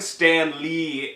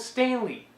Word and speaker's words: Stanley: They're both Stanley. Yeah, there, you said it right. Stanley. Stanley. And Stan Lee, that's how you keep saying it.